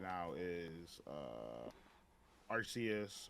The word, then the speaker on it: Arceus: right now is uh arceus or archie as well the heck are you arceus i think is how it's pronounced yeah that surprisingly uh